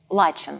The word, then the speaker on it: Лачен: Лачен.